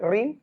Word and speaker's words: ঋণ: ঋণ ঋ টা যদি শব্দের শুরুতে থাকে রস্বীকারী হয়ে যাবে।